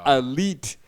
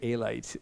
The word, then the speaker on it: Alite: why I started spelling it so people can understand. ALITE, elite. So I wouldn't hear Alite anymore.